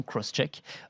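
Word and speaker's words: XCheck: et qui s'appelle crosscheck ça s'écrit x tchèque mais ça se prononce visiblement crosscheck pour vérification croisée et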